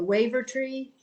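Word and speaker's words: Wavertree: Street Seaport, I want to be sure I pronounce it, the Waiver Tree.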